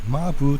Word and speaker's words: 間歩: 鉱山の坑道のことを間に歩くと書いてマブと読みますが、こ